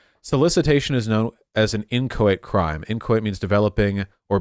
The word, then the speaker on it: inchoate: Federal solicitation is an inchoate crime. Could somebody... How do you pronounce that?